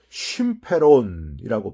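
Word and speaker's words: συμφέρον: 여러분 여기서이 유익이란 단어는요. 헬라어로 쉼페론이라고 발음을 합니다.이 쉼페론이란 단어는 어느 특정한 개인의 이익이 아니라 공동체 전체의 유익을 가르키는 불특정 다수를 대상으로 할 때만 쓰이는 단어입니다.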